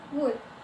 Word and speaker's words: would: Kemudian ada could dan would. Would juga tidak diucapkan.